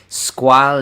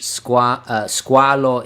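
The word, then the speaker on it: Squale: And by the way, it's squal is French, squalo is Italian, but I say squal.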